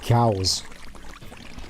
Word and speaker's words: Chaos: one last time cows I always found of Music in Japanese why he just pronounce it cows not even cows just